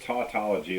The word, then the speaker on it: tautology: that pronounced tautology uh i think it's tautology like taught pathology yeah okay thank you